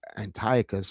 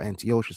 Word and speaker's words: Antiochus: What I do want to bring about though is that look how many epiphanies antio Antiochus or antioshas however you want to um uh pronounce it right look how many